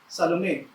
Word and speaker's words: Salome: Opo, yun po ang pronunciation ng pangalan ng babaeng ito, Salome.